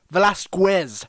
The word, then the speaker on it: Velasquez: And you have to pronounce the Quez. Velasquez.